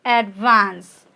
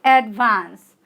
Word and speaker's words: advance: we pronounce it as advance right advance okay your stress is on vance okay that is second syllable it has also two